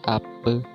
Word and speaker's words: ape: Bahasa Melayu Belitung mempunyai ciri yang khusus pada penyebutan kata yang diakhiri dengan e, seperti pada bunyi huruf e pada kata emas. Dalam bahasa Melayu Bangka, penyebutan kata yang berakhiran bunyi e diucapkan sesuai dengan bunyi pada huruf e pada kata bebek. Contoh penyebutan kata apa jadi ape.